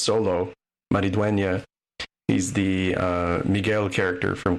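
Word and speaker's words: Xolo Maridueña: Yeah, so Cobra Kai star, I think it's pronounced Solo Maridueña.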